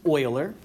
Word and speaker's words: Euler: alongs come along comes Leonard Euler oiler one who oils but that's just an odd way of pronouncing that and he was adding